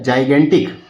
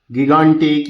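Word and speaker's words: gigantic: जाइगेंटिक। क्या बोलेंगे इसको? जाइगेंटिक। ठीक है? इसको गिगंटिक या इस तरीके से पढ़ने से बचें।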